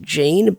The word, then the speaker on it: Jin: His name is, like, on the wiki pronounced Jean, but the romanization of his name is Jin.